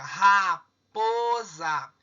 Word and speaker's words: raposa: Raposa. A sílaba tônica está aqui no 2, ou seja, a palavra raposa é uma paroxítona.